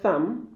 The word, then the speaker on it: thumb: There are B here, but silence B. A. Thumb. C. Limb. And D. Climb.